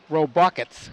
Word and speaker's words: Robockets: It's robockets. Robockets, like Reading Rockets, except robockets.